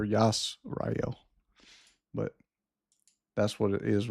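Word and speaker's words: ישראל: So y that yod there is not a j or or an i. That's that's a y. It's a yish y not sorry that's a scene yish y rael that's how you pronounce it with the vowel points it could be it could have been yashrael or yas rael but that's what it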